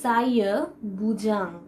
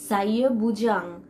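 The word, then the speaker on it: saya bujang: ফার্স্টে আমি যে লাইনটি এখানে লিখেছি সেখানে আমি লিখেছি সাইয়া বুজাং, সাইয়া বুজাং।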